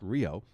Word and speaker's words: REO: to REO Motor Company which he actually pronounced Rio and one of their